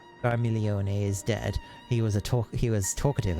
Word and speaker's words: Scarmiglione: Just ignore the G. Scarmiglione. Scarmiglione is dead.